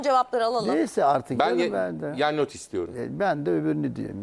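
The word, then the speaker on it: Gianniotis: Giannotis okunur o.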